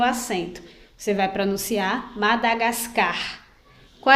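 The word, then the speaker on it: Madagáscar: qual é a pronúncia a sílaba mais forte ou a sílaba tônica é a que tem o acento então se eu for pronunciar madagascar com acento vai ficar madagascar madagascar certo então eu vou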